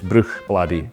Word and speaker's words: Bruichladdich: Despite the spelling, the pronunciation is quite simple. It's Bruichladdich. It's very common in Scotch dialect for CH to be pronounced like loch.